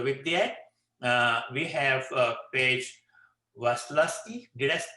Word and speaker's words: Waslowski: So with that, we have Paige Waslowski. Did I pronounce it correct, Paige? Yeah. I only call her Paige. You did a good job. Paige Waslowski.